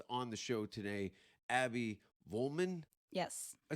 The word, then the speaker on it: Vollman: the safeword podcast on the show today abby vollman yes i said it right yes i want to always say van holman is there is there any uh similarities to